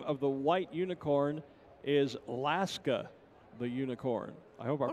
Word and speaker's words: Laska: the white unicorn is laska the unicorn i hope i pronounced that right l-a-s-k-a like alaska without the uh at the front there you go so